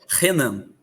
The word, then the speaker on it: Renan: Renan. Pero o acento não é ou na? É sem acento, mas a sílaba mais forte aí é no nan. Renan.